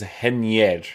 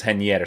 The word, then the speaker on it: Reinier: this guy's name is henier is it not henier i'm pretty sure because brazilian people and portuguese people have this way of pronouncing these types of names right like henrique right